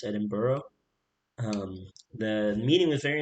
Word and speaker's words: Edinburgh: i know it looks like edinburgh but it's pronounced edinburgh um the meeting was very important in terms